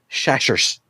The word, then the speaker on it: Chachere's: I've never heard it pronounced like that. Chachere's? Is that how you say it? Yes. Well, my hillbilly. Am I wrong, Jason? No, it's Tony Chachere's. I assume you're right, but the hillbillies I grew up with was Tony Chashers.